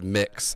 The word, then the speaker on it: Mx: Also, the it's mix MX and it's I'm not pronounced doing mix.